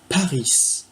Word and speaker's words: Paris: Alors, ich wohne in Paris. J'ai prononcé le S parce qu'en allemand, toute lettre se prononce.